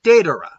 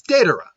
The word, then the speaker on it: datura: is the fact that the day part I'm pronouncing is sounding more like a DA but I'm saying datura so yeah it's de Dora but because I'm saying at all one maybe